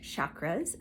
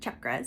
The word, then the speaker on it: chakras: But for those of you who are new to this, some people pronounce it chakras, some people say chakras. I was taught chakras.